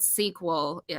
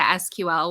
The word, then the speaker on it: SQL: And it was called sequel, spelled the same as a movie sequel, but all capital letters. And then as it became more of a product and something that was sold, it was shortened to SQL, which stands for Structured Query Language.